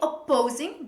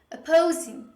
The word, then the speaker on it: opposing: Don't say opposing. Don't pronounce two P's when you say this word. Say only one P. Opposing. Opposing.